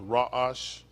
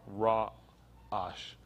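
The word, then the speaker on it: ra'ash: hyphen a s pronounced rajash pronounced with the a s h at the end of it r r a accent um a-s pronounce our raw ash for quaking or shaking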